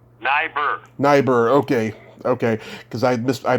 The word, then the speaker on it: Neibaur: Is your last name pronounced Neibaur? Neibaur.